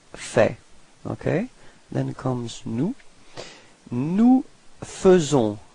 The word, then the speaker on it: nous faisons: Nous faisons. So here it's quite tricky because actually we write it A-I, faisons, but then we pronounce it faisons. Okay, and then final S is not pronounced.